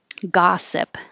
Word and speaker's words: gossip: it bird big bird gossip looks like an o but sounds like ah gossip and the first one